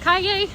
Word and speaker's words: Calle: Is that pronounced Calle? And I was like, yeah, like yippee Calle.